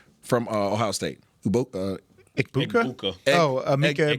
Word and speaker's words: Egbuka: Ikbuka? Ikbuka. Emeka Egbuka against Tampa Bay.